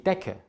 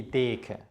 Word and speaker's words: Decke: Es ist also die Decke, nicht die Deke.